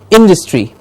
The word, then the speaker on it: industry: you can see here the stress is on in industry perfect industry the dust